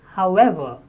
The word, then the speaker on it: however: The next is however. However, stress on ever, second syllable.